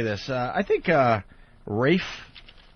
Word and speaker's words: Ralph: say this I think Rafe even though his name is spelled Ralph yeah Ralph Fiennes it's race